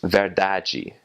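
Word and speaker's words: verdade: in Brazil Brazilian Portuguese when you have a DI or a de at the end of a word you that will make a gia sound so the word for truth is ver dodgy and in like in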